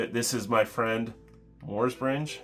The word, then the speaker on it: Morsbringe: to get into it this is my friend mors bringe y pronounce it right I'm very impressed with myself